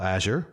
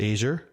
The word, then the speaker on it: Azure: right because this technology I've I call Azure based on the color at least the pronunciation o over here. I've heard Asia I've had heard Azour.